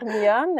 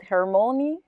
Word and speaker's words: Hermione: Yeah, we have Hermione, and I think in English you pronounce it Hermione, but it's Hermione, which is a kid silk.